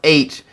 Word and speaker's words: Aech: Aech, but it's pronounced H.